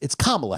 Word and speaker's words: Kamala: But it's Kamala Harris. It's Kamala. Right. Same thing. I thought it was Darius, but it's pronounced another way.